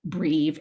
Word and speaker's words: breve: A brev has a short E sound and it represents short vowel sounds.